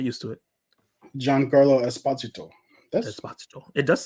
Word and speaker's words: Esposito: of Gian saying like the whole time he's been saying Esposito because it was easier for people to pronounce it that way. But he's like, I'm not doing that no more. Just pronounce my name the right way.